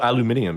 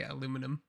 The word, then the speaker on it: aluminium: Oh, aluminium. Yes. Yeah. Aluminium is the correct way to say it, but we say aluminum.